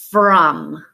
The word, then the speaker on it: from: and say from and the trick part here is your vowel sound again it is an a sound but we're gonna use the letter O to say from okay now we're gonna